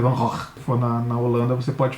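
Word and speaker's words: Van Gogh: Van Gog né cara os holandeses eles eles não falam o G né então a pronúncia correta é van R for na na Holanda você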